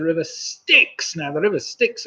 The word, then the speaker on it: Styx: Now, the river Styx, of course, rhymes with the number 6.